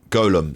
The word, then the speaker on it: Golem: on prune pronunciation Golem Golem see told you Golem Golem not Gollum Golem Golem and they